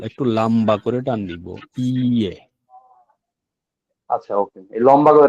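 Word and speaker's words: いいえ: ইয়ে হচ্ছে ইয়ে, ই ই এ, ইয়ে একটু টান দিয়ে বলতে হবে, ইয়ে, ইয়ে, ই এ, মানে ইটা একটু টান দিয়ে পড়তে হবে, ই এ, ইয়ে, ঠিক আছে?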